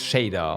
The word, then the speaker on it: Shadar: It's Shader. Okay, like Shader.